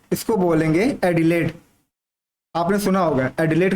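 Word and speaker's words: Adelaide: South Wales की capital है यहां पर, ठीक, इसको बोलेंगे, मैं लिख ऊपर दे रहा हूं, इसको बोलेंगे एडिलेड।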